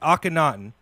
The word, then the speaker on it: Akhenaten: pronounce the name correctly is it Akhenaten I cannot yep that's that's right just um not ten not ten he changed his name